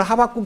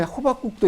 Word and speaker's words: 하박국: 분이 저한테 와서 성경에 호박국도 있어? 하박국이라는 말은 포옹한다는 뜻이에요. 근데 너무너무 신기한 성경을 찾아보자 하니까 호박국이 성경에 다 있나? 어머니 하박국이에요. 제가 발음이 좀 나빴나 봐요.